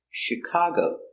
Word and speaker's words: Chicago: Detroit very good example Chicago comes from French so we pronounce it soft ship Chicago is the accent cargo Chicago is a city in